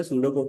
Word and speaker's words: pseudocode: तो भाई सूडो कोड जो है ना पहली बात तो इसकी स्पेलिंग पे मत जाना। ये पी सडो कोड नहीं है। ये सूडो कोड है। ठीक है? P silent.